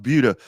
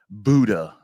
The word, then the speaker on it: Buda: It's not two O's. It's a U, right?